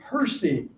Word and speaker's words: PSI: will be on an introduction to Percy and it's spelled PSI and that stands for